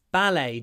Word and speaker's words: ballet: I often watch ballet so it's not B it's ballet just like bouet is